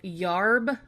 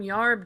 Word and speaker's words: yarb: now they call them yarb doctors because U they said yarb instead of herb and I thought well